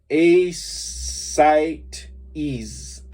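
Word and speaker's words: ascites: called large round worms acetites pronounced asylum ease is ease a site ease an acculimation a no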